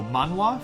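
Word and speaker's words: manhwa: I explain this um they're the exactly the same word just pronounced in Korean Japanese and Chinese so manwa for for Korea Korea and uh Mana for China uh China and Taiwan and uh manga for for Japan obviously it's really cool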